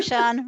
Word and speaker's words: Sian: But I'm Sian, rhymes with Barn, and I help chronic procrastinators and overplanners get their one-day goals onto today's to-do list.